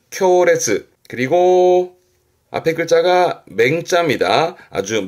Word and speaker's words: 烈: 강렬한 발음은 레즈 레즈 그리고 앞에 글자가 맹자입니다.